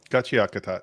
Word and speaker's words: Gachiakuta: Gu, how's it pronounced? And why should Kachiakata gachiakata?